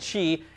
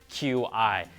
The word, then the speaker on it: Qi: standard for wireless charging called Chi and no it's not pronounced Qi now previous patents have